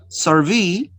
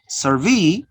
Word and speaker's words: survey: In the first, the stress is on the second syllable, all right? The stress is on the second syllable, survey, notice, survey, and in the second, the stress is on the first syllable, and we change the type of the word.